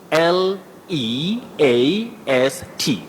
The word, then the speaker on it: least: lower word bety yeah l e a s t the word with the long vowel sound is is least the least amount but